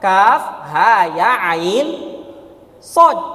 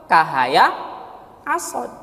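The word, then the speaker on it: كهيعص: Dari zaman dulu Nabi, ya sampai hari ini itu dibaca dengan kaf, ha, ya, ain, sod. Tidak dibaca apa? Kahaya, asod.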